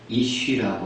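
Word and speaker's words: איש: 히브리어로 불, fire라는 단어는요, 애쉬라고 합니다. 애쉬. 그리고 남편이라는 히브리 단어는 이쉬라고 합니다. 거의 발음이 약간 다르지만은 똑같은 단어, 자음은 똑같습니다. 불하고 남편은요, 히브리 단어가 자음은 똑같습니다. 그 밑에 모음만 약간 달라서 발음이 불을 애쉬, 남편은 이쉬라고 합니다.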